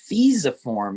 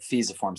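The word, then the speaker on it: fusiform: taking my class said it's fiza form even though it's spelled like that you pronounce it fisiform so don't feel bad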